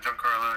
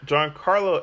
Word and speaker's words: Giancarlo: guests joining me today it's going to be Gan Carlo that's how you say that's how you pronounce it yeah John Carlo yeah John Carlo and we have the next in line for